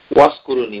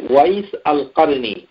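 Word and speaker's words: أويس القرني: নাম ডাক আছে তাকে আমরা বাংলাদেশে অনেকেই বলি ওয়াসকুরুনি ওয়াসকুরুনি এটা এটা এরকম করে নাম উচ্চারণ করা ঠিক নয় তার নাম হচ্ছে ওয়াইস আল কারনি আবু আমর ওয়াইস ইবনে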